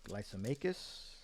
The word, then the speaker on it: Lysimachus: I believe the main generals were like Lysimachus, we got it written down, Cassander, Ptolemy, and Seleucus. You don't pronounce the P, it's Ptolemy.